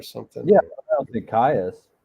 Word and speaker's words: Caius: Caius.